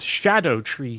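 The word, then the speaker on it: Scadutree: the scadu tree fragments are pronounced Shadow tree fragments because it uses the old English pronunciation for uh the c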